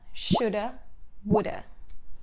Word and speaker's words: should have: between it's pronunciation time we don't really use have in spoken english we replace have with a sound the most common uh sound in english uh so it becomes coulda shoulda for example i would